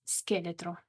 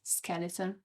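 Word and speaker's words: scheletro: the last one is skelet which means skeleton again you can see the C and H together are pronounced as a k so from skeleton to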